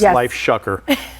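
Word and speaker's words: LifeShocker: the founder of and I really had to practice saying this life shucker uh because it kind of rhymes with another word I'm so fond of but anyhow the website is LIF shocker.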